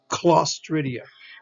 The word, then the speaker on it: Clostridia: Okay, Clostridia, Clostridia. Here's a C followed by a consonant.